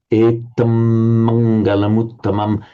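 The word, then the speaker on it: etaṃ maṅgalamuttamaṃ: Etam mangalamuttamam. You've got to pronounce a double M here because we've got this word ending in an M, and the next one beginning with an M.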